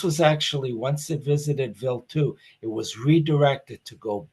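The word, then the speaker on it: Wild 2: a little bit went to comet this is pronounced vilt 2. I don't know why it's spelled wild too, but it's pronounced vil 2. And uh this was actually once it visited vil 2, it was redirected to go back to uh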